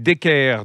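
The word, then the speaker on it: Deckert: guide michelin c'est cédric decker decker ou des cartes comme on dit cédric on prononce pas le thé à la fin non non non non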